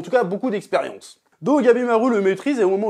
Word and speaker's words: Gabimaru: C'est-à-dire que, par exemple, le personnage de Gabimaru, je le prononce bien, t'as vu, qui réussit à le maîtriser.